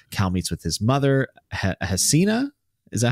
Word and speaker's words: Hasina: Cal meets with his mother, Hasina. Is that how you say it? Yeah. Hasina.